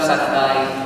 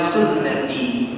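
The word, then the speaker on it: سنتي: Padahal sunnahti dibacanya santai. Tahu surat huruf-hurufnya sin, nun, ta ya kan ya. Ada orang yang salah kemudian enggak nikah-nikah. Kenapa enggak nikah-nikah? Karena dalam hadisnya juga annikahu santai. Padahal annikahu sunnati.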